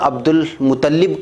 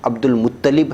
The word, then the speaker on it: عبد المطلب: تھی، تلفظ کی غلطیاں۔ میں نے لام پر عبد المطلب کہا تھا، وہ عبد المطلب نہیں ہے، عبد المطلب ہے، اس غلطی کو آپ